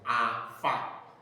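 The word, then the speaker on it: enfant: Why is it not on? H this T is not part of the exceptional consonant that hence once they hand words in French we pronounce them like letter R, letter E, letter F.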